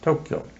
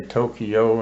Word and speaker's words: Tokyo: Then on a troop train up to Tokyo. You hear people say Tokyo and Hiroshima. Those are not right. Right. It's Hiroshima and Tokyo. Tokyo. Yeah, Tokyo. 2 syllables.